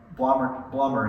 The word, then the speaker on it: Blommer: He was the 4th generation owner of Blommer is actually how it's said, chocolates.